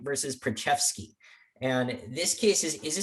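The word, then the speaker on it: Preczewski: hard to pronounce but one trick if you want to know how to pronounce a case is you pull out the oral argument you see how the chief pronounced it uh and he pronounced this one uh usa bionum versus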